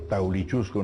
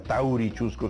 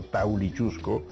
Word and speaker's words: Taulichusco: Por eso también, digamos, el cacique limeño, ¿no es cierto?, Taulichusco no era Taurichusco, sino Taulichusco, y toda la toponimia, Maranga